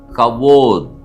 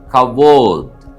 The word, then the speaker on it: כָּבוֹד: கற்றுக்கொள்ள இருக்கிற எபரேய வார்த்தை கவோத் என்பதாகும் எபரே எழுத்துக்கள் கேப் பேத் வாவ் டாலத் உயிரெழுத்துக்களோடு உச்சரிக்க வேண்டும் என்று சொன்னால் கேப் காமட்ஸ் பேத் ஹோலம்வா டாலத் கவோத் கவோத் என்ற எபரேய வார்த்தைக்கு மகிமை